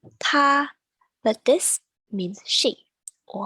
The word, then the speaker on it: 她: Next up, same pronunciation, 她, but this means she or her. Even though it sounds the same, so in spoken Chinese,